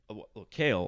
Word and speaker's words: Kalle: how did you say kale we say it's like oh I can't even say it it's to Viking for no so you just say kale but it's some yes